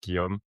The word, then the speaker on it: Guillaume: I know it's hard for really speaking people to pronounce Guillaume, especially with the the spelling. But it's like a G like guitar and yum like yummy.